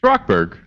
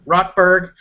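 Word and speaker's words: Rochberg: George, did we decide how this is pronounced? It's Rockberg. Rockberg.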